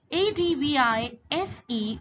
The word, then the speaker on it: advise: advise sir s sound is there advice and a d v i s e on the other hand is pronounced as advise said sound comes so when